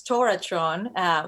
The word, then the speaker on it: TorahTron: shifted it transformed and now it's Torah Tron pronounced in the American style and we're still bringing